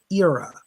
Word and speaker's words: Ira: gives me the name it sounds like he said his name was was ir like it's like the name ira but he pronounced it era so his name is